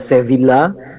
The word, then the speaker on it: Sevilla: ya kalau teman-teman prabaca Sevilla zevin Lite kalau di Spanyol tuh V dibaca B ya double l dibacanya ia tasydid jadi sedia ya saya biak Cordoba kurtubah